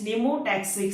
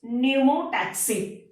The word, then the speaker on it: pneumotaxic: is opposite to this pneumotaxic center. Remember, P is silent in this word, so pronounce pneumotaxic.